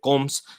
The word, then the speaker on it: Gomes: mina tom davis and andre gomes still all out that's how he's supposed to pronounce it derek ray taught me with the portuguese name navigator joel gomez roberto